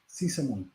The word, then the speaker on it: Sysamone: Sysamone.